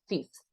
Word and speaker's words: fifth: So first, third, in this case, it's fifth, no es fifth, right? It's fifth and sixth. In that case, we don't pronounce the I like a E.